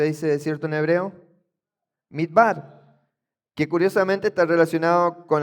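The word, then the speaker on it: מִדְבָּר: Midbar, que curiosamente está relacionado con la raíz da bar.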